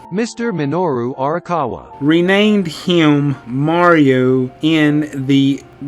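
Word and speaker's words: Minoru Arakawa: help again how you say his name Mr minoru orawa renamed him Mario in the arcade sequel donkey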